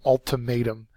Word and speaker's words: ultimatum: this sort of means it's a noun third syllable is accented it is a final